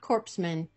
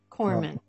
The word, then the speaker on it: corpsman: a hospital corpsman and i'm glad i pronounced that right not corpseman corpsman what does i love